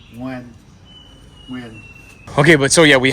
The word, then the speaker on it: Nguyen: as dumb American kids, we pronounce it Nguyen, something like that. You know, we would say it. No, Nguyen.